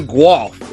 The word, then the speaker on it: Guelph: Went to Guelph. Is that's correct? I said it right. You got it. Guy from Guelph. I said Guelph, but we'll talk about that later.